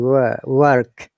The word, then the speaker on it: work: If you're pronouncing the American way, R should be pronounced in American IP and American English in work. R sound. That's why American English is called rhotic, because they pronounce the R.